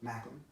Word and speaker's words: Macklin: Macklin.